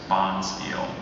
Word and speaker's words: bonspiel: Do you have any alternate pronunciations? I don't, just bonspiel. Bonspiel. B O N S P I E L, bonspiel.